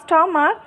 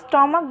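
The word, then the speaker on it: stomach: Only it's স্টমাক lead out রাস্টলিং noise of dry pieces of pepper. কেবলমাত্র এটার এটার যে পেট এটাকে হচ্ছে আমরা অনেকে স্টমাক বলি।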